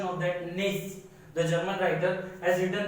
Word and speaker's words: Nietzsche: Please look at the spelling of it carefully, or pronunciation of that. Nietzsche, the German writer, has written that war alone is the national lead, or you can say need.